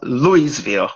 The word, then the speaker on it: Louisville: and he was uh the head coach at a school in Louisville, Kentucky. I know it's spelled Louisville was actually pronounced Louisville.